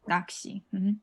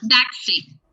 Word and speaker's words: 낚시: 낚시. With the F, Bashi. 낚시. Oh, Daxi. When you pronounce it, it will be this way.